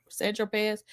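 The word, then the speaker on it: Saint-Tropez: So Agnifilo says, when you bought the 8-ball of Coke on St. Tropez, pronounced Sandropez, you didn't tell Mr.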